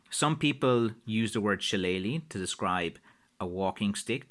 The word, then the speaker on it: shillelagh: So anyway, that's the kind of shortest version I can think of trying to explain about the word Shillelagh, which again is what I would call it.